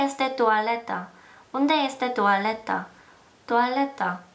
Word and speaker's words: toaleta: 투알레타. 토일릿. 씨랑 발음이 굉장히 비슷하죠?